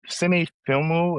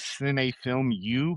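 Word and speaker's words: Cinefilmu: So it kind of looks like sin film U, but I they don't pronounce it U, right?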